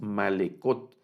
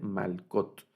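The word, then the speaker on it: מלכות: No leemos malekot, sino solo mal, el Sheba no suena, solo va a sonar la consonante malkot.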